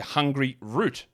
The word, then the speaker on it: Hungryroot: Now, they've given me a pronunciation guide here to make sure I don't say Hungryroot. Just call it one word, Hungryroot.